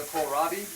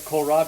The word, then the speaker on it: kohlrabi: it that much, and that's spelled Kohlrabi, as in, how's Kohl spelled at the store? Is that Kohl? There you go. So it's like you gotta go to Kohl's with a rabbi. Kohlrabi.